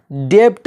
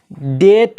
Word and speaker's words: debt: जैसे DEBT क्या होना चाहिए था? डेप्ट होना चाहिए था, लेकिन डेप्ट नहीं होगा बल्कि डेट होगा। क्यों? क्योंकि यहाँ पे बी साइलेंट है जो टी से पहले आया है।